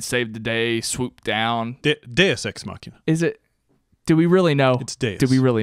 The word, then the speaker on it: deus ex machina: really know it's days do we really know yes I know for a fact it's deus ex machina welcome to the pronunciation you take French class in high school that's Latin thank you very much